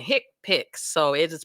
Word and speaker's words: HCPCS: select hipic codes so notice I've been saying hick pic so it is pronounced hi i c p i CS these